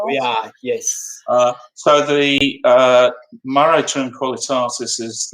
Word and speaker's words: mare: Have a bit of a chat about the most famous sea, or mare. I said it right, Steve. Are you proud? Well done. You can call them mares if you want to.